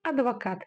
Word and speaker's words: адвокат: Но так как это слово заимствовано из русского языка в казахский, мы читаем его именно как оно звучит в русском языке. Адвокат через букву А.